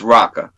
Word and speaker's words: Roka: name wrong with Roca it's raqqa our own like you say rock like rock and just put an a behind right okay I'll try